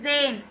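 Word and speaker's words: zehn: அப்புறம் zane.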